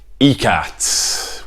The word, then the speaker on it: Ikat: Tonka Stein with another episode of beers of the British Isles on today's episode we're drinking tea cats which is how you're supposed to pronounce it should you release a